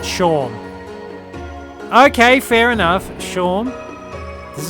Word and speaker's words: Seam: The name Seam pronounced Sha.